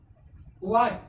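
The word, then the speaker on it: what: यहाँ पे W के बाद क्या आया, H है, H हो गया साइलेंट, H साइलेंट हो गया, कितने का हम लोग प्रोनाउंसिएशन करना, वाट, यानी WAT, वाट, वाट मीन्स क्या या के रूप में।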